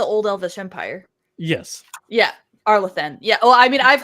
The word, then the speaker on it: Arlathan: Let me put it this way: she didn't pronounce it the way I said it, and she didn't pronounce it the way you said it. Aleatham.